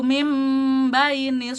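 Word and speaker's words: مِنْ بَيْنِ: Di sini ada nun sukun bertemu dengan ba, adalah hukumnya iqlab ya, yang mana itu merubah nunnya menjadi mim kebacanya. Jadi contohnya seperti ini, yakhruju mim baini wat taraib.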